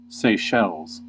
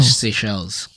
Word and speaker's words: Seychelles: That's not Seychelles. Oh. Seychelles. You just butchered it. Seychelles.